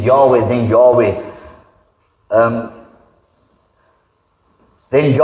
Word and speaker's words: Yahweh: you heard of Jehovah Yahweh is the more correct pronunciation of God's name you always say to